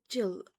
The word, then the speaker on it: Gil: Oh, is it Jill or Gil? You mean that? I I I use both. Gil as in goose.